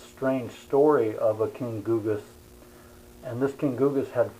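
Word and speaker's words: Gyges: this uh googas his name is often often pronounced gaiji's but i think the correct pronunciation is googas and there's a by the way there's an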